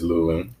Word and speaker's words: Luling: I keep saying Luling. Is it Luling? It's Luling.